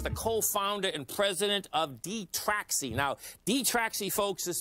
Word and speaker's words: Detraxi: our guest today folks is michael spy tech michael is the co-founder and president of d-traxxy now d-traxxy folks is spelled d-e-t-r-a-x-i website is d-e-t-r-a-x-i dot io uh